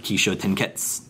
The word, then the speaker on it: Kishōtenketsu: But a lot of times in Japanese, when you have the SU at the end, the U is kind of like semi-silent, so it almost comes across more like Kishōtenketsu, kind of like desu. You know, it's not pronounced desu most of the time, it's just pronounced des.